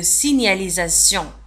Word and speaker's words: signalisation: لاحظوا على أن signalisation تكتب ب S-I-G ولكن G لا تنطق. لا نقول signalisation. Signa. G-N-A نيا. Signa. Signalisation. ولاحظوا كذلك على أن signalisation في آخر الكلمة نجد T-I-E-N كما أشرت في الدروس السابقة. عندما نجد T-I-E-N تنطق سيون. سيون.